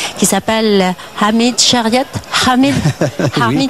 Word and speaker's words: Chariat: Alors, moi je voudrais que vous me racontiez l'histoire de quelqu'un, je vais essayer de bien prononcer, qui s'appelle Hamid Chariat. Hamid oui. Chariat.